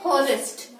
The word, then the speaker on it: honest: Now here my H is silent. We do not say honest, honorable or har. We say are, honest and honorable when my H is silent.